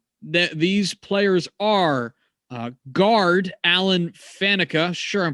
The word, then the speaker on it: Faneca: So let's start with Alan Faneca, or however it is you pronounce that, because Faneca is correct.